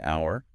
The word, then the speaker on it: hour: Um, and then the H in hour, huh, is silent because of its Latin roots.